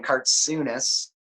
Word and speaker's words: Kartsounes: cartoonists is the guy you pronounce the name card soonest kar t sou NES but my Google search